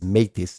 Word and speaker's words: Meitis: it's pronounced and the last name is mtis like the month of May but it's spelled Mei t i s so I have to